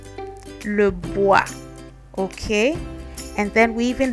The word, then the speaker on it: bois: Then we have le bois. Bois is wood. So when you see this, next time don't say Roy and Boyce. It's roi, le bois.